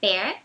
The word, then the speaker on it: bear: Então a gente observa que bear tem esse som aberto, como se fosse com acento agudo no E, bear.